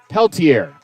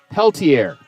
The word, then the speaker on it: Peltier: five homers 30 runs batted in right-handed batter ryan peltier p-e-l-t i-e-r behind tell your t-e double l i e r but back end the last name pronounced differently throw to first chases